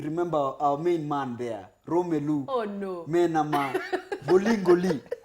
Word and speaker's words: Romelu: You have to say his name in a certain way. Romelu. Romelu, exactly.